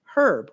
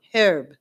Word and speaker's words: herb: in a place where herb is pronounced with a hard H. The H isn't silent.